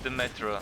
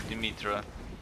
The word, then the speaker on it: Demetra: And the NPC that sells you the skills is Demetra or Dimitra, depending on how you want to pronounce it. Greek name, so it's probably pronounced Demetra, but oh, whoa, whoa, whoa, whoa.